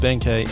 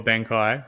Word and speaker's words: Benkei: Whereas Benkei or Benkei, however you want to say it, right? Or Benkei is like the Japanese pronunciation of the nickname.